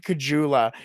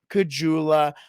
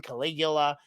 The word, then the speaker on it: Caggiula: see where Drake Caggiula, the legend of Drake Caggiula, continues. I thought I said his name wrong. My dad used to always call him Caligula, like never got his name right.